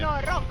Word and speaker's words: Noroc: Noroc.